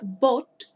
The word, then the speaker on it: bought: Brought, brought, y acá sería bought, bought, porque no tiene la R, ¿ya? Entonces acá sería lo mismo que decir bought, ¿ya? Recuerden que esa combinación O-U-G-H-T se pronuncia como OT, ¿ya?